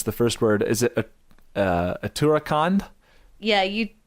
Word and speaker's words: Uttarakhand: So this is the, I can't pronounce the first word. Is it Uttarakhand? Yeah, Uttarakhand.